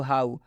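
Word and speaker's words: how: होंगे उसके बाद से एच ओ डब्लू हाउ हाउ में भी ओ और डब्लू एक साथ में आ रहा है तो इसमें ओ डब्लू का उच्चारण ओ की मात्रा से नहीं किया जा रहा है इसमें हो रहा है हा ओ उ की मात्रा से किया जा रहा है तो हाउ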